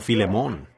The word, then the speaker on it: Filemón: Así que, Filemón, dijo alguien allá atrás, lo cual creo que es la pronunciación correcta.